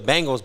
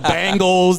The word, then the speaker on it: Bengal: row to the Cincinnati Bengals okay this is a team that no one can pronounce their damn name the Bangles the Bingo it's a Bengal tiger right not a bangle a Bengal hangs off